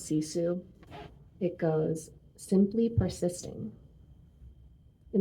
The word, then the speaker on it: sisu: Have you heard of the Finnish word sisu? It's spelled S-I-S-U, and it's a Finnish word with